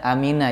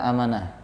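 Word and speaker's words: أَمِنَ: Cuman di dalam ayat ini bacanya aminah ya, bukan amanah.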